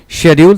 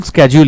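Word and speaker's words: schedule: लेकिन और हाँ, शेड्यूल स्केड्यूल ये दोनों प्रोनाउंसिएशंस होते हैं। वन is British, the other is American. स्केड्यूल this is American and शेड्यूल this is British.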